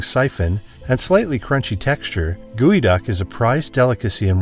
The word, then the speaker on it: geoduck: even stews number three guoy duck pronounced guoy duck this giant clam from the Pacific Northwest is unlike anything else with its long stretching siphon and slightly crunchy texture guy duck is a prized delicacy